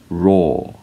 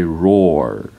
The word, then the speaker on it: roar: Now, British people would pronounce these as raw, raw, and Americans would say roar, roar.